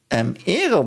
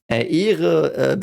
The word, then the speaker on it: Ehre: Ehre was so interesting. Ehre, because of the H that's silent, the E is a bit longer, and the E in English, like it's pronounced E in German.